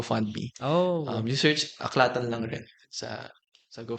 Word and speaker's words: AAClatan: a c l a t a n so aklatan on on Facebook sa website that is our